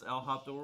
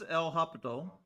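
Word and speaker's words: L'Hôpital: Now it's two different spellings. Sometimes according to variant, it says uh English spelling is going to be L'Hospital, but in French it's going to be L'Hopital, but he's actually L'Hopital.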